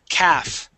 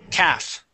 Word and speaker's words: calf: the L is silent the L is silent we do not pronounce the L we say calav Cavs